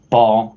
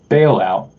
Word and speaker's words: Ba'al Out: A lot of people pronounce it Baal. That's like correct how you pronounce the Canaan deity Baal, but I actually pronounce it bailout, like an economic bailout, bailing out the banks.